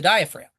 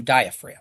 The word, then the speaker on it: diaphragm: Look at the spelling of diaphragm. It's got a ph in it and a silent G in it. Where's the diaphragm?